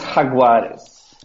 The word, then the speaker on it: Jaguares: Of course, Jaguares. Jaguares? Yes. George Regan does a nice Jaguars, and Phil Kearns tries to pronounce it a completely different way.